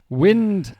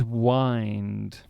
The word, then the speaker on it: wind: word I know but wind and wind w i n d wind what blows through the trees and wind you wind up wind a handle you wind